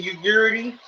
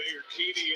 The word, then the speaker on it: Urquidy: Okay, Jose Ugurity, the game 4 pitches on the mound. Stingy hitter. Off to double up. Jose Urquidy in that game 4 Urquidy.